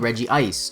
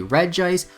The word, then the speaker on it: Regice: Titans registeel Regirock and reggie ice or regice i want to say reggie ice since it fits more in line with the other two but phonetically it should be regice whenever i say either